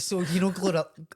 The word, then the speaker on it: GloRilla: Right, so you know Glorilla.